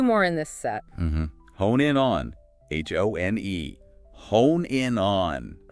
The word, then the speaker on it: hone in: Hone in on.